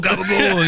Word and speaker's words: capicola: People are yelling gabagool gabagool AND HE'S LIKE IS THAT IS THAT capicola is that do you mean capicola? Cuz it's spelled capicola but you're saying gabagool.